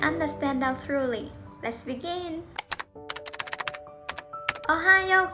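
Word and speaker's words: おはよう: Another thing I discovered from my part-time job in Japan, I would greet my coworker with Ohayo gozaimasu even if I starting my shift in the afternoon or in the evening.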